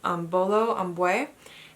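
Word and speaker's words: Imbolo Mbue: And I finally looked up how to say this author's name so that I'm not butchering it every time, and it's Bolo Ambwe.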